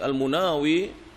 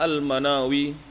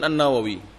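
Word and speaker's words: المناوي: kolom berkat al-imam al-munawi al-munawi ini bukan Nawawi Hai Sebagian ulama dengan bacanya Al manawi alakulihal bukan an-nawawi kalau an-nawawi beliau dari noah danau itu di Syam kalau al-munawi itu dari Mesir beliau jadi berbeda Hai jadi jangan sampai kita salah baca hole Munawir rahimahullahu berkata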